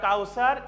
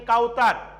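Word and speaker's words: Kauther: students keep attention here kausar is spelling k-a-u-t-h-e-r so it can be uttering kautar but there is the thaa in the arabic word that's why i written t-h-e-r so if i pronounce the arabic so that will be cow cow sir because there is the the letter that's why i written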